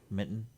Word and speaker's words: mitten: Mitten? Yeah. You kind of soften the T's in the middle.